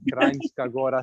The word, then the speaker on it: Kranjska Gora: Ljubljana, but Bohinj, or Kranjska Gora, all these places, and ja, it's not, we pronounce it as ja, like Germans would.